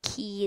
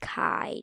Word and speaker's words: Kai: It's not pronounced key, it's pronounced Kai, jeez.